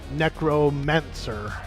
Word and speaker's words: Gnecromancer: The G is silent. I love it. I love a silent G.